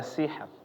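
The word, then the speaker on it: سحر: di sini contohnya ada sihr sihr sih sih ya sihr Iya jadi tetap kedengaran rnya di akhir tapi dia tipis sihr sih ya jangan malah dihilangin semua ya bapak-bapak sih ya malah jadi hilang jadi enggak tahu sebenarnya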